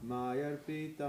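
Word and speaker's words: मय्यर्पित: Your pronunciation is right. But people in this normally they do some wrong pronunciation like this. Mayyar pitamano buddhi yo mad bhakta same priyaha. So the wrong is here, they will not utter the R. But you uttered that.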